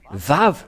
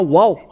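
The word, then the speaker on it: ו: nous voyons cela euh nous voyons bien que c'est vave la vraie prononciation mais pas waouou c'est bien un vave parce que ils ont il y a ceux qui sont ont créé le waouh va W c'est un peu étonnant car même si c'est waa ça se prononce vave ou que vous soyez c'est toujours le vave et nous allons revoir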